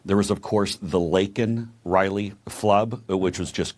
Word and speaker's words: Laken: says her name and he calls her Lincoln Riley instead of Laken Riley I'd be a winner